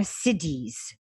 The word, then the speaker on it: siddhi: There are siddhis, and you would spell it S-I-D-D-H-I, it powers that are in all these different states.